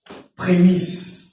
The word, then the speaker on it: prémices: Prémisse. Les prémices. Les Il faut premiers. bien le prononcer prémisse, sinon te koko ya la primus.